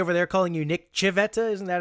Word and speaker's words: Civetta: Was everybody over there calling you Nick Civetta? Isn't that how they say it in Italian? Yeah. Yeah. Well, I catch myself saying that sometimes because that's just the way it's pronounced over there.